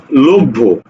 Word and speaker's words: লভ্য: এরপরে দেখো যখন আমি বলছি লভ্য, এই লভ্য শব্দ উচ্চারণ করতে যে আমি বলছি কি লকার ভ, লোভ, লকার বলভ, ভকারে ভো, লভ্য।